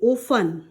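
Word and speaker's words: often: लिए आएगा आपका ऑफन इसे ऑफन नहीं पढ़ते हैं इसे ऑफन पढ़ते हैं ओ एफ टी ई एन लेकिन इसे टी यहां पर साइलेंट लगेगा इसे इसे यहां पर क्या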